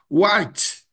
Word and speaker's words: white: Então fica white, white white, tá? Não é white, nem white. White, white. Ok.